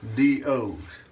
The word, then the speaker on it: Swee Do: SWEEDOs. And I'm pronouncing it SWEE DO.